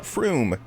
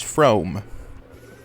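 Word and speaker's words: Frome: that word Froome f-r-o-o-n it's not Froome it's from at least according to the map men I it goes with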